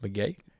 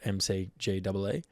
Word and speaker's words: McGee: his first release, 2018, I think it was, is called Pronounced McGee, spelt MCGEE.